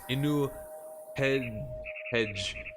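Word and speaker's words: Inbu-Hedj: It depicts a fortress and a mace, pronounced in ancient Egyptian as Inu Hedge, meaning white walls.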